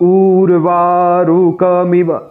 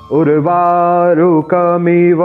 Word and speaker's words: उर्वारुकमिव: बाकी लोग क्या कहते हैं कि ऊर्वारुकमिव, ऐसा नहीं है यहाँ पर। वास्तव में यहाँ ऊ छोटा है और इसका उच्चारण हमें जल्दी करना है। उर्वारुकमिव बंधनान मृत्योर्मुक्षीयमामृतात्।